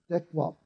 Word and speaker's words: dekwap: Now, when I pronounce that word, you see that my lips continue to move, and I'm blowing out the last vowel of that word, which is If I was to pronounce it as a full it would go dekwap, but that's not the word. The word is dekwap.